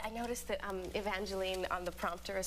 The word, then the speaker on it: Evangeline: I have to say I noticed that um Evangeline on the prompter has spelled e n to get you to say it right that's very sweet sweet once years ago I said Angeline L I never heard the end of it